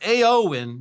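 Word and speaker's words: Éowyn: So, it's a win, not air, which battered Ireland, Northern Ireland, Scotland in January.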